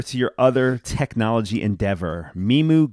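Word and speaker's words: MiMU: your other technology endeavor meemu gloves am i saying it right imogen yeah like me and music that's right right so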